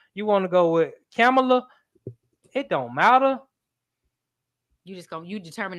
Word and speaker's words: Kamala: I tried to say it right. I didn't say it right that time. You know, like a comma and la.